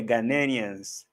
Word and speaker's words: Ghanaians: Oh, someone was trying to give me a pronunciation of Ghanaians. Ghanians. Oh, yeah. Ghanaians. Thank you.